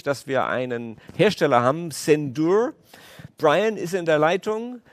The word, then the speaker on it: Zendure: Is that the pronunciation, the proper one? Yes, Zendure.